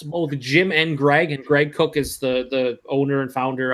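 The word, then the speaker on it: Greg Koch: There's both of the Cooks, both Jim and Greg, and Greg Cook is the owner and founder of Stone Brewing.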